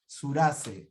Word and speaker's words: Surace: Next, we have our good friend Surace. Is that the way you pronounce Surace? Yes, well, it's an Italian name, so it should be Surace, but it's Surace. Come andiamo alla sua casa?